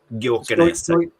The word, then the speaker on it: Gyökeres: So I think those will be the guys trying to feed Gyökeres. I'm going to go. I don't know how to pronounce his name, but Gyökeres.